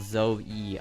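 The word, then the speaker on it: Zoë: In French, they indicate each vowel should be pronounced separately rather than diphthong. For example, zo-e.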